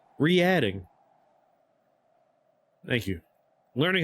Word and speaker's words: Reading: It's pronounced like re-add. Re-adding.